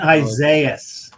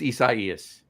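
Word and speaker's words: Isaias: We were uh uh you know sitting on lawns with Hurricane Isaiah. No, it was Isaaias.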